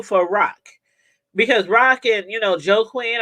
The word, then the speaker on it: Joaquin: Because Rock and, Joaquin or Joaquin, I think she called it. That's how it's pronounced, Joaquin.